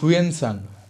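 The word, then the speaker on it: Hsuan Tsang: यहाँ पर प्रोनाउंसिएशन ऐसे होगा, हुएन यानी कि HSUAN में S साइलेंट रहेगा, HUAN, हुएन संग यानी कि यहाँ पर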